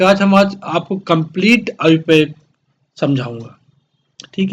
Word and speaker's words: IUPAC: जो इसका correct pronunciation है वो आयुपैक है।